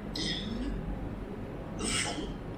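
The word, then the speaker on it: ils vont: when you put normally you tend to add S at the end of the words, okay, like here, but then you don't pronounce it, so ils vont, final day, not pronounced, ils vont, vont, and then faire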